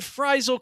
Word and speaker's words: Frisle: just that badass and fral correct me if I'm wrong Curtis uh with two s's but I believe that's pronounced like fival Like An American Tale fral Goes West is